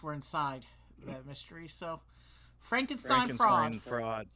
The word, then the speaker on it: Frankenstein: I've got to correct you. It's pronounced Frankenstein.